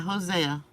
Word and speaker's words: Hosea: to hear the word oh I think it's Hosea okay I think it's nausea let's just listen to the arm how they pronounce it yeah yeah Hosea the one one of